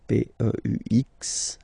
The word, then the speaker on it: peux: P-E-U-X, okay? You don't pronounce the final x.